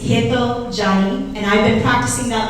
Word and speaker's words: Hetal Jani: When your name is mispronounced, and I appreciate all who tried to say my name tonight, for the record, it's Hetal Jani, and I've been practicing that myself because I've learned how to mispronounce my name since grade school.